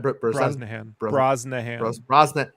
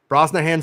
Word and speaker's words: Brosnahan: Brosnahan. Brosnahan Solo.